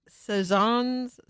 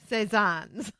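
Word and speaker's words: Cézanne: And so he was talking about the Picasso path, the Picassos and the Cezanne, Paul, how do you say it, people?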